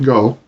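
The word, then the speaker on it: 五: the ng sound, and the element go, meaning 5, is usually pronounced with a hard G even within a word, but these are of minor importance.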